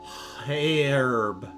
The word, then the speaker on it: herb: The H is typically silent in Canada. So you say herb. Well, the British say H. So it'd be herb.